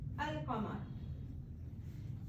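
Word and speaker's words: القمر: अल कमर, ठीक है, अल कमर। इसमें आप देखें लाम साइलेंट है और इसमें लाम साउंड कर रहा है।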